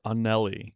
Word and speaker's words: Anelli: Yeah, I just heard her pronounce her name. Yeah, And it's Anelli.